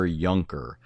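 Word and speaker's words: Juncker: Uh his name is spelled J U N C K R but it's Gunther Yunker and it's called Jesus and the angel of the Lord.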